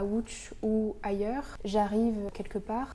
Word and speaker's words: Łódź: J'ai été invitée par Raphaël Stopin en résidence de création à Łódź, en Pologne, qu'on prononce Łódź.